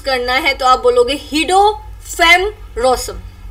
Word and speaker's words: Guido van Rossum: Okay, agar aap English mein pronunciation karenge to is aap bologe Guido van Rossum, right? Aur agar aapko Dutch mein isko pronounce karna hai to aap bologe Guido van Rossum, right?